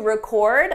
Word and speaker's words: record: The difference depends on syllable stress. With the verb, the stress is on the second syllable, record, record. For the noun, the syllable stress is on the first syllable, record, record.